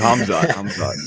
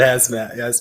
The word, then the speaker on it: Hamzat: I said Hamzat. You said Hazmat.